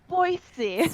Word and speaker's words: Spoicy: Spoicy. So spicy. Yep. It's like noise, but spoicy.